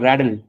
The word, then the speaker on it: rattle: So it is actually rattle or raddle. I mean, in American pronunciation, it is often called raddle.